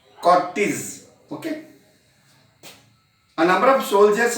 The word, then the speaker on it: cortege: You have to pronounce it as Cortes. Cortes.